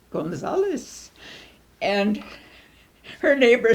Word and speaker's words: Gonzales: gong sales and my mother said it's pronounced gona solace and her neighbor said I'm sorry it's spelled